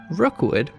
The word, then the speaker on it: Rockwood: One of these modest plots of land was named Rookwood, which is spelled like Rockwood, but St. Johners won't be very impressed if you don't pronounce it as Rookwood, and that's where the park's name came from.